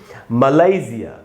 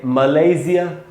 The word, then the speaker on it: मलेशिया: British उच्चारण है दोस्तों मलेशिया, इसमें लय में जो ए है वहाँ पर स्ट्रेस है, वहाँ ज़्यादा रुकना है, इसको पढ़ेंगे मलेशिया।